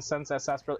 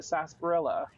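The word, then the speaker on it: Sarsaparilla: with sunset sasparilla apparently I've listened to some audio recording to people saying sunsets espera it is sunset sasparilla the R is silent ooh Dean Domino and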